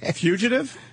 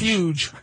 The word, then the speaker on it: Fugitive: Fugitive? Fugitive. Fugitive. Like centrifuge. Fuge. Fuge. Fuge.